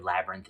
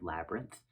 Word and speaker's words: labyrinth: That TH sound at the end?